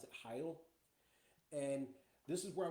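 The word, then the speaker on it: Hail: it's spelled h a i l but they pronounce it Hy and this is where I was talking about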